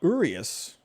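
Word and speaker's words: Urías: there from slater urius i guess i've been saying the name wrong this entire time i'm gonna have to get used to saying that um urius good looking change up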